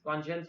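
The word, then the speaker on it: conscience: Okay, कुछ लोग इसको कंसाइंस बोलते हैं, बट कॉन्शियंस वर्ड है और उसी से आया कॉन्शियंशियस।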